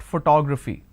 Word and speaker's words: photography: Okay, I have the word photography here. It's actually pronounced as photography.